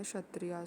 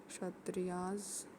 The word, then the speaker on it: क्षत्रिय: दूसरे को हमने बोलिया क्षत्रिय क्षत्रिय में के आएगा जो कि साइलेंट है त्रिया एंड दे र एक्सपेक्टेड